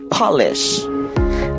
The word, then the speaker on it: polish: P-O-L-I-S-H. The first way to pronounce it is polish, beginning like pot.